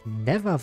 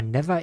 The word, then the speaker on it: Neva: Ach, Neva wird die ausgesprochen. Ich habe die immer Never eh ausgesprochen. Okay, das ist wirklich Isha, die aus dem Vorgänger.